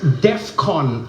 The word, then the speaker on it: DEFCON: not the point, but that's not how you say it. Pay attention. I know it's not the main issue here, I know that. But it's DEFCON 3.